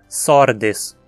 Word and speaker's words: Sordes: Aqui temos um gênero com só duas sílabas, então só temos uma pronúncia possível, sordes. Não tem antepenúltima sílaba para receber o acento.